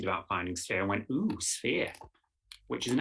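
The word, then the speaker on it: oosphere: It's just ooh, ooh. You have to say it like that.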